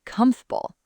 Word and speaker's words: comfortable: We smush it together. We don't say every single syllable clearly. That's natural English. When we talk fast, sounds blend together and disappear. So try it. Comfortable, then faster, comfortable. The middle vowel just vanishes.